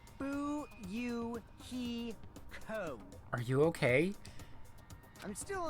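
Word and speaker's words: Fuyuhiko: last name is my first name is pronounced boo you he co are you okay i'm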